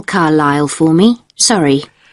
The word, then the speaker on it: Carlisle: Could you spell Carlisle for me? Sorry. It's C-A-R-L-I-S-L-E. You don't pronounce the S.